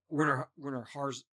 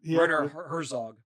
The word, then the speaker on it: Werner Herzog: Werner Herzog. I said it wrong. But he acted. Werner Herzog.